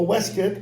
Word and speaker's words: waistcoat: what they call a West kit or waistcoat is all Americans pronounce it a vest okay that has